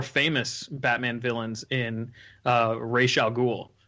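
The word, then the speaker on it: Ra's al Ghul: in uh ray chalgool i'm sure you guys are familiar with rachel ghoul or roz algool however you want to pronounce it but uh i i believe that denny o'neill pronounces it rachel ghoul since he created the character i'm gonna go with what he says uh i'll accept that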